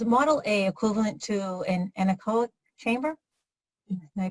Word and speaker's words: anechoic: We have, let's see, Devin's asking, is Model A equivalent to an anechoic chamber? Am I pronouncing that right?